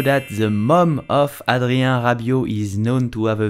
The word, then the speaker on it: Rabiot: Adrien Rabiot. The T at the end of Rabiot is silent. Do not pronounce Rabiot, but Adrien Rabiot. Did you know that the mom of Adrien Rabiot is known to have